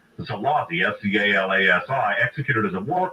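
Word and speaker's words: Szálasi: commanded the army of Arrow Cross Chief Ferenc Zalati, S-Z-A-L-A-S-I, executed as a war criminal against the Russians in World War II.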